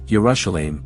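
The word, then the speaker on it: ירושלים: The flag of Jerusalem displays the lion of Judah in the center with the inscription Jerusalem in Hebrew pronounced as Urashelim above.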